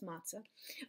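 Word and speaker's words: מצה: there is the the it's like a tz kind of sound like like tt fly i guess tz sound and this letter is sort of the equivalent of a silent e in um english it it alone doesn't have its own sound in this word um so there you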